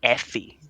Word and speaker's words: Effie: earlier things she does you kept mispronouncing her name it's Effie shut up okay just